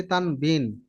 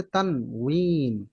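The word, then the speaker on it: تنوين: তানউইন আমরা সারা জীবন পরে আসছি তানবিন, তাই না? হ্যাঁ হ্যাঁ, তানবিন পরে আসছে। তানবিন পরে আসছি, কিন্তু মূল উচ্চারণ হচ্ছে তানউইন।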